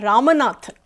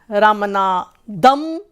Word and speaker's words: Ramanathan: So many people pronounce it as Ramanathan, Ramanadam, or Ramnath, or Ramanna. So again, like, I go through that procedure, that process, that I have to, repeat, like R, A, M, A, N, A, T, H, A.